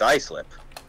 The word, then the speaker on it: Islip: same thing I go hey look three minutes is L IP it's Islip is how it's pronounced but he's saying is lip and Iceland